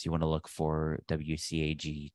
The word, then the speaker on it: WCAG: But just as a couple definitions, if you aren't familiar with them, WCAG, WCAG is how that's pronounced, is the web content accessibility guidelines.